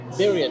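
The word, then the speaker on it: birria: we talked about the bira tacos I learned how to say it correctly it's bira not bira it's bira thank you smok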